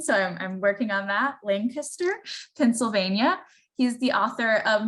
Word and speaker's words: Lancaster: I was just corrected of my pronunciation, so I'm working on that, Lancaster, Pennsylvania.